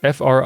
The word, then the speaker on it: frigatebirds: That's Frigatebirds. I'm pronouncing it like the boat frigate.